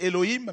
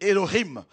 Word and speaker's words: Elohim: Ça écrit en français Elohim, mais c'est Elohim.